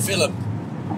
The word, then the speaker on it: film: they say it so in Ireland if you're going to go see a movie it's a film f i l i m film but it's it's film but but fil fil yeah I saying that right fil F that's how they go it's two syllables instead of one yeah they just add